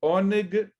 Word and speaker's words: Oneg: de um dia de Oneg Shabat. Essa é uma outra expressão, hoje não muito comum em muitos lugares, mas Oneg, se fosse escrever em português, seria O-N-E-G, Oneg Shabat.